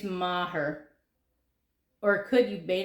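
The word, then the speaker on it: Meagher: But it's Thomas Francis, and if you were reading it, you would say Megar or Megar, but that's not how you say it in English. It's like Thomas Maher. I think it's Maher.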